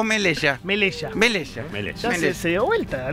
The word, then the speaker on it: Melella: ¿Melella o Melella?